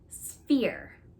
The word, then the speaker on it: sphere: to say so let's practice saying it together sphere sphere is spelled s-p-h-e-r-e they were really trying to trick